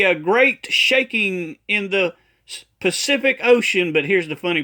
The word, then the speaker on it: Pacific: It's not specific, it's Pacific.